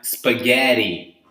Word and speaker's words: spaghetti: Over there, for example, we have spaghetti, right? No spaghetti. Same situation as water and as butter.